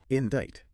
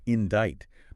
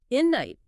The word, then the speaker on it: indict: Indite. Okay. Okay. The silent C is the great deceiver here. It leads so many people to pronounce it indict.